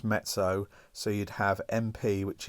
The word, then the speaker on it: mezzo: lot of is m m is moderately it's pronounced mezzo so you'd have MP which is mezzo piano